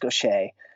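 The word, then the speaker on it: Gauthier: it's spelled GA you thi er but it's pronounced Gautier she she's an incredible woman man adopted brought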